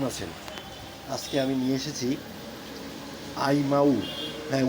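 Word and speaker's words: Imou: আজকে আমি নিয়ে এসেছি আইমাউ। হ্যাঁ, উচ্চারণটা এরকমই, আইমাউ।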